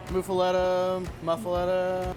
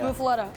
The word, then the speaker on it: muffaletta: Muffaletta. You go down to New Orleans and they'll accept that. Yeah. Muffaletta.